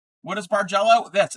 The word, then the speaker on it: bargello: It's pronounced bargello.